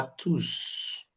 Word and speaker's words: tous: This S is silent. Am I right? It's an adjective. When you come to the pronoun, man, we can say Merci à tous. The S is pronounced for the pronoun.